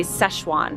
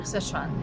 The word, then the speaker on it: Sichuan: right see I think a lot of Americans say Szechuan Sichuan and that's not because it's spelled differently us fella ssz yeah yeah yeah and it's supposed to be si si once you fix on